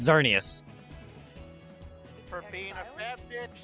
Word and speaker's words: Xerneas: No, it's Xerneas. For being a fat bitch, stump to the head. It's Yveltal or Yveltal and Xerneas, as I always have called it. The X is silent then.